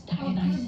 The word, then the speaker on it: Dionysus: Listen, the D is for Dionysus. That's Dionysus.”